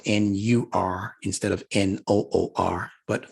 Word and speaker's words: Noor: you are instead of n-o-o-r but for purposes of pronunciation we say Noor and write it like